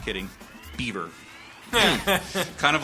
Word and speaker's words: Belvoir: l v o i r but it's actually pronounced I'm not kidding beber kind of like the bucket woman it's bouquet